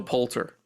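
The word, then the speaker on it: Poulter: And I'm probably am I pronouncing his name? Will Palter? Yeah. Will Palter.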